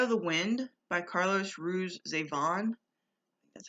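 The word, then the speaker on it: Ruiz Zafón: um the shadow of the wind by carlos ruiz avon that's how you say his name i know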